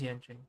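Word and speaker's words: Yanqing: Am I saying Yangqing right, or is it pronounced something else? No, it is Yangqing.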